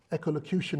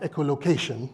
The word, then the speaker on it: Echolocution: Echolocution is intentionally hard to pronounce. Seriously. It's not echolocation, echolocution.